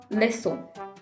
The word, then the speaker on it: leçon: in car, comme, cuisine.so, we use ‘c’ with cedilla in order to get the sound s. example garçon, leçon.